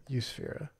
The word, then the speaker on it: Eusphyra: Spelled like Europe. Eusphyra. Spelled exactly like Europe. It's crazy pronunciation. It just says Europe in front of us, but we know it's pronounced Eusphyra.